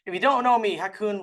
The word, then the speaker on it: Ha Kung: My name is Hakun. If you don't know me, Hakun rhymes with raccoon with an H, so now you know whether you wanted to or not.